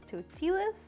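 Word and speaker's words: Totilas: celebration model okay so I swear to god it's totalus but more and more recently I've been hearing people pronounce it as tuti lists I don't really know who's right but personally I think totalus sounds better so I'm just gonna say totalus right now I have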